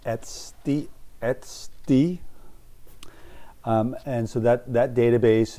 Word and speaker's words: etcd: has it's it's it's spelled etcd and it's pronounced at st and so that that database essentially um there's